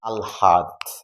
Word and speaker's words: আহ্লাদি: লটা আগে আসলে কি হবে? আল। আল হা, আল হা দি।